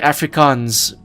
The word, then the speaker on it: Afrikaans: Yes, you're saying it right, Afrikaans.